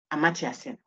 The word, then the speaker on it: Amartya: But if you search for how it is pronounced, it's not that. The T is silent, I think. But you know Sen, Amartya Sen.